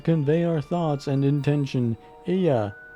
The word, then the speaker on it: Ea: our thoughts and intention Aya I believe was the pronunciation used when referring to our people though it is not